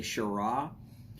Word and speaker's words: Shiraz: and interesting news personally i like a shira which is spelled with a z on the end so it looks like shiraz howdy martin great to